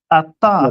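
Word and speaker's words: את: No, if you Ata. No, go ahead. Ata is the word that has no meaning, right? Asked. So No, Ata. It would be pronounced At.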